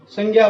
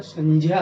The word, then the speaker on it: संज्ञा: जहां तक मैंने सुना है, जिसे सुना है, संज्ञा बोलते हैं, जो कि गलत उच्चारण है, वाक्य में ही गलत है, अशुद्ध है वो।